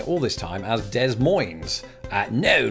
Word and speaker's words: Des Moines: the case in fact I learned years ago that those s's were very much silent in this word just because of the French influence and but it turns out that I've still not quite been getting it right I've been walking around this whole time or just you know lying around I don't have to be walking while saying it the point is when I say it I've been saying Des Moines because that sort of